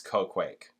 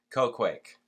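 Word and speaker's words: Qoquaq: of the glider the oh cake okay good pronounce Co Quake thank God they said that cuz I'm like yo C Quake the Mystic and appointed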